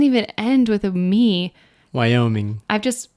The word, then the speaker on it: Wyoming: go ahead number four I used to say Wyoming your brain just admitted the NG yeah I just thought it was pronounced I thought the ing was silent but it doesn't even end with a me Wyoming I've just pronounced it Jackson Hole Wyoming for